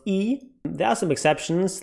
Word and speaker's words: aether: to each other but whenever this is this diphthong ae from latin then it's e so you have words like larvi antenni formulae and also very daughter relevant eat the lens it's not aether lens ether lens so get your pronunciation right it's aegis ether and thank you for